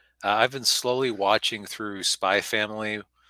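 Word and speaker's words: Spy × Family: been slowly watching through Spy Family. It's spelled Spy X Family, but it's, apparently you're supposed to leave out the X because Japanese anime titles are confusing.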